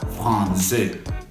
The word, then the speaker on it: français: La cédille se utiliza para que cuando utilices esa A, O o U y quieras mantener la pronunciación de Z, entonces usas la cédille, como en la palabra français.